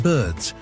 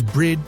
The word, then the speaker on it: bird: And one more fun fact, the original pronunciation was brid, not bird. Over time, the R and I swapped places, a common sound change known as metaththesis.